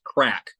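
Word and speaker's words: craic: Sor eyes so uh according to an Irish viewer it's pronounced crack I was right okay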